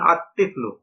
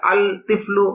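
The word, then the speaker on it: الطِّفْلُ: তিফলুন, আলিফ লাম যোগ তিফলুন সমান সমান আত তিফলু, এখানে আল তিফলু, এটা গলত উচ্চারণ, লামটা উচ্চারণ হবে না।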